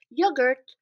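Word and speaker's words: yoğurt: is kilo in Turkish yogurt is yogur we just dropped that weird letter that we don't know what it is and yogurt means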